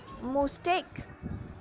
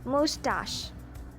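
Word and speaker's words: mustache: मुस्टेक। Well, इसे हम मुस्टेक नहीं कहेंगे, इसका सही प्रोनाउंसिएशन है मुस्टाश। रिपीट कीजिए मेरे बाद, मुस्टाश।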